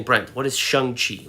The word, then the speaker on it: Shang-Chi: Well, that's how Kevin Feige pronounced it. All this time, I thought it was pronounced Shang-Chi, because it's spelled Shangchi. I mean, we know how to say chi here in English from, I guess, the Cantonese or Mandarin word, but he said Shang-Chi.